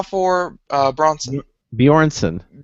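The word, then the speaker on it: Björnsson: is tall and strong but actor uh go pronounce that that's uh uh how for uh bronson bjornsson bjornsson there we go thank you is much much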